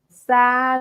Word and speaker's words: sad: So be careful. Pronunciation here, I often hear the confused or something else. So sad, similar to like cat, for example.